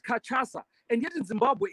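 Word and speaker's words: cachaça: this this word and they said it's called kachasa it's called for crying out loud mahimba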